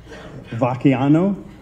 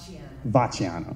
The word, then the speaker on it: Vacchiano: the last name, Lorette Vacchiano. Now, you said there's an Italian way to pronounce it. Is it? Okay. And now, how's the American way to pronounce it? Vacchiano. Vacchiano. We like the ch.